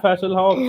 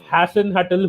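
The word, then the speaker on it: Hasenhüttl: The thing with Timo is, and Raf Hasselhoff said this as well. I think I mispronounce his surname. No, it's not Hasselhoff. That is David Hasselhoff. It's Ralph Hasenhutl who said that with Timo,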